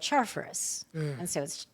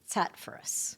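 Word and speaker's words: Charfauros: But the correct pronunciation is actually Tatfurus.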